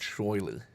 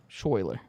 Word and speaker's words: Schuyler: If you want him alive, Guys, it's pronounced Schuyler as well. Schuyler.